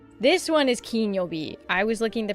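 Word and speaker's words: 金曜日: And this is pronounced Kinyobi. This one is Kinyobi. I was looking at the pronunciation of this one. This one is Ki. Yo. U. B. Okay, can I? Kinyobi.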